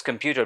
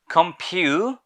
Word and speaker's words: computer: এরপরে আমরা এই শব্দকে নর্মালি বলে থাকি কম্পিউটার, but it should not be pronounced as computer because it's an English word, so pronounce it like English.